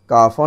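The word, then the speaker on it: cough: তৃতীয় ওয়ার্ডটি দেখো, এটির উচ্চারণ টাফও নয়, অর্থাৎ কাফও নয় এবং কাগও নয়, এটির উচ্চারণ হবে কফ।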